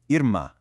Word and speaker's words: irmã: "Irmã". Compare this phonetic spelling to the last one. Notice what's missing? That little W sound at the end is completely gone. Instead, it's an abrupt nasalized "ah" sound.